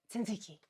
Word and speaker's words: tzatziki: So for example, you guys told me how to pronounce properly the Greek word tzatziki.